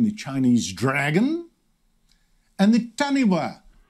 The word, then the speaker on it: taniwha: chinese dragon and the taniwha yes pronounced correctly because tanifa is spelt wrong of maori mythology which